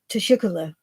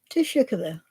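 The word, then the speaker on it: teşekkür: know he was saying it's almost like tea and sugar because it's to Shukla so the that is how you say thank you in Turkish and it's like just say team sugar and I was like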